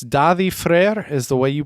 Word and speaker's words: Daði: It is, I think it's Daði Freyr is the way you pronounce that, I think. Is that letter after the A D? That's I think it's almost like a TH sound.